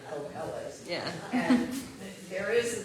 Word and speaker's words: Kohelet: First of all, how to pronounce this name that's coming up. Kohelet. Kohelet.